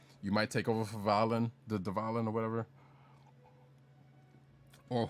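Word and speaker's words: Dvalin: The reason why I'm not saying Devalen, because I know that's what they say, because I hate the it's a weird pronunciation when they do it in the English, and I'm like, you know what? I'm just gonna keep the D silent. The D is silent, silent D, like Letterman.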